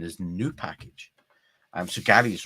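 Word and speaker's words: nupkg: it's Gary's Board of Shame um because Gary pronounces nkg nup K correct uh when in actual fact the real pronun pronunciation is new package so Gary's wrong and what Gary's then done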